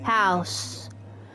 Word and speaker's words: HAUS: HAUS. Oh, that's how you pronounce it.